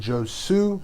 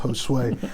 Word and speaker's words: Josue: If you are reading my name, you're probably saying Josue, but it's pronounced Josue.